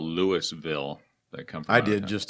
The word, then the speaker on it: Louisville: there who says right Louisville Louisville Louisville you gotta leave something out so the S is silent I guess that's just